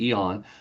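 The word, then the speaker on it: AEON: Again, AON is spelled AE O N. So everybody pronounces the A, but it's really eon.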